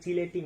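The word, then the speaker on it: chelating: আর ধাতব আয়নের এটাকে নষ্ট করার জন্য আমরা ব্যবহার করব হচ্ছে কিলেটিং এজেন্ট, ঠিক আছে? কিলেটিং এজেন্ট, বা অনেক সময় এটাকে উচ্চারণ করা হয় চিলেটিং এজেন্ট, কেমন?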